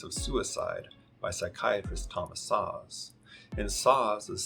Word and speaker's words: Szasz: ethics and politics of suicide by psychiatrist thomas saws and saws is spelt s-z-a-s-z sam zebra apple sam zebra psychiatrist